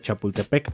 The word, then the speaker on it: Chapultepec: acueducto construido en 1779 para llevar agua de Chapultepec a salto del agua.